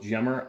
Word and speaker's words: Gemmer: Today's video we're covering this Shiloh Sharps Model 1874 Hawken Gemmer or Gemmer. I hear it pronounced both ways. I go with Gemmer.